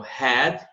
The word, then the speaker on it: had: Então, had, olha o som do H, que se chama H aspirado, né?